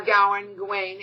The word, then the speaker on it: Gawain: And Gawain doesn't want, or Gawain, I've heard it pronounced both ways, doesn't want to go.